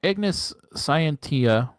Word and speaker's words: Ignis Scientia: Is that is that how you pronounce it? That way. Yeah. Ignis Scientia for one and for one and a simic legendary creature human adviser.